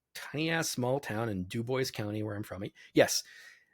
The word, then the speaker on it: Dubois: Jasper Indiana the tiny ass small town in Dubois County where I'm from yes anyone listening to this who speaks French is like I'm pretty sure that word is Dubois yes but when the French Indiana and the